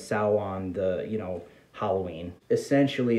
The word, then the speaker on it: Samhain: villain his name is samhain spelled the same as salwan the you know halloween